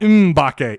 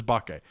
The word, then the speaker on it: Mbake: bakke by the way the m is silent apparently it's not umbake it's just bokeh samuel bake i've been calling him mimbacay i mean you know